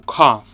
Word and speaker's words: cough: Então toda hora quando você pronúncia essa palavra aí o cough não tem som esses dois letras não. Você não pronúncia o gh, o cof com gho.